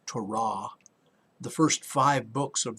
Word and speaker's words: Torah: we know that originally there was the torah actually it's pronounced torah the first five books